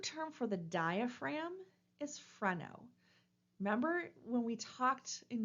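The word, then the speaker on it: phreno: in the English language and so the is pronounced freno it refers to that muscle that helps us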